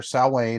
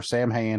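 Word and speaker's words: Samhain: big event up there, Sal Wayne or Sam Hain, however, depending on how you want to pronounce it.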